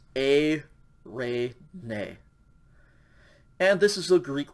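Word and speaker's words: εἰρήνη: again smooth breathing mart just pronounced the um diphthong sound so this one is a ray nay and this is a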